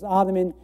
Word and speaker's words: Ottoman: but the osmana Empire why do we say ottoman well it's because the the Arabic this th sound um doesn't quite exist in English at least not commonly so uh we have